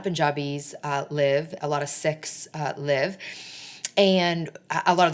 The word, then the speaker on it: Sikh: It's spelled S-I-K-H, pronounced Sikh, not Sikh.